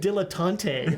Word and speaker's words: dilettante: my brother said dilettante.